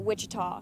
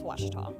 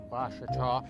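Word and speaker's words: Ouachita: uh I've heard people say o oh a Oita is it pronounced Oita searching for was Baptist University back in Texas everybody pronounces it witch but really it's wash wash wash how would you pronounce it wash wash it's wash Baptist University get it right it's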